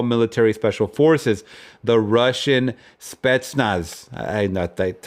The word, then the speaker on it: Spetsnaz: notorious of all military special forces, the Russian Spetsnaz. That's how you pronounce it.